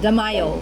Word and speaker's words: Damayo: pronounce it like a Filipino, and you pronounce it like an American. You're like It's all Damayo, right. and I'm like Damayo.